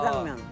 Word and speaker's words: 짜장면: 짜장면. 짜장면이 원래 중국 발음이라서 이제 중국 발음을 한글로 표기한 거예요. 그래서 원 발음은 짜. 짜장면.